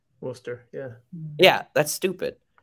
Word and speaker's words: Worcester: learned the other day that worchester massachusetts is pronounced wooster wooster yeah yeah that's stupid it's not spelled that